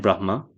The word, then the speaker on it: Brahma: Uh, yeah, I'm actually South Asian myself, so I should pronounce them as Shiva and Vishnu and Brahma.